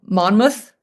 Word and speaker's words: Monmouth: for deserving children and combat veterans in um Monmouth. Is that did I say it? Did I pronounce it correct?